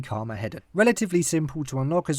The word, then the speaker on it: Carmageddon: No, I didn't mispronounce it, it is actually Carmageddon.